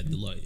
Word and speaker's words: Deloitte: Is that how you pronounce it? Yeah, Deloitte.